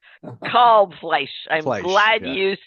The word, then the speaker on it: Kalbfleisch: And pronounce your last name for us, please, Kalbfleisch. Kalbfleisch.